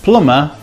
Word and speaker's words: plumber: When MB is in the middle of a word, it depends. For example, amber, we pronounce the B, but plumber, we don't.